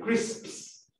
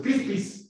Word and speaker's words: crisps: Chris, hay un grupo de palabras que terminan SP y cuyos plurales siempre se pronuncian así, como en crisps.